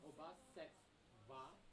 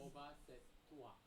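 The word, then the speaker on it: obhāsetvā: The tv is a double consonant, so the first t is pronounced with the vowel before set. Then Oba, set, wa. va. Yeah. Oba set va or Hmm.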